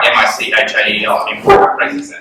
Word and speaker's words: Michael: And then when you look at it, it's really just Mike with an L on the end. So I don't really get what the confusion is. You know, if you were to spell Michael phonetically, you'd write that.